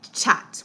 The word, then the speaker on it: chat: because of something called chat. We call it chat, and it's spelled C-H-A-T, like the word chat, but it's called chat.